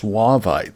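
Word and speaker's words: Suevite: So, we've got suite or as I've been told, it's actually pronounced suaveite stones.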